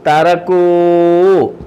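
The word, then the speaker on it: تركوا: Calf ലമ്മ് കു കു കൂ തറക്കൂ തറക്കൂ തറക്ക തറക്ക തറക്കൂ തറക്കൂ. അലിഫ് ഉണ്ടെങ്കിലും ഇല്ലെങ്കിലും തറക്കൂ എന്ന് വായിക്കും.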